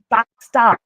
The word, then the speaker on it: Bastard: D-Station racing driver of, this is the French pronunciation, Owan Bastard, which is a official name, to which at 2 o'clock in the morning, when you've got nothing on about, it's quite fun to say that name, especially when it gets a penalty and you can say it, because the English pronunciation is the swear word.